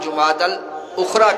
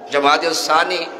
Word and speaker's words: جمادی الاخری: کے ساتھ، لہٰذا یہ جمادی الاولی اور جمادی الاخری کہا جائے گا، جمادی الثانی یہ تلفظ صحیح نہیں ہے۔ ویسے تو سردی ہو